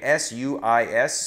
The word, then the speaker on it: suis: Je suis, by the way, S-U-I-S, suis, S, the second S isn't pronounced.